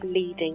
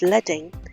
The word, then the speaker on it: leading: leading you notice it looks like it says leading but it's pronounced leading leading is the space between the rows you've